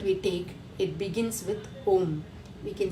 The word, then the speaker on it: Om: It is with 3 letters, A, O, M, but when we pronounce it, it is Eka Aksharam only.